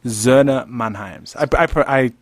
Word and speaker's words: Söhne Mannheims: Okay, how do you pronounce it? Söhne Mannheims.